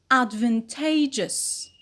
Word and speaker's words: advantageous: number one advantage advantage plus is it becomes advantageous advantageous so what do we notice here not